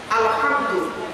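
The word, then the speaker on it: الحمد: আলহামদু হে হে, গলার ভিতর থেকে হেটা উচ্চারণ হবে গো বাবা।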